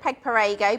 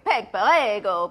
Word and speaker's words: Peg Perego: Kaz Hill says she's not heard of Peg Perego, but she's very interested.